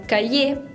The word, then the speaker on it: cahier: Ahora si digo la palabra cahier, que lleva una R final, esa R no se pronuncia. no se sabe por qué, es la regla, hay que sabérselo de memoria.